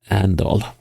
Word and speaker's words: Arendal: Could also be around Arendal, Grimstad. Well, Andal, as the locals say.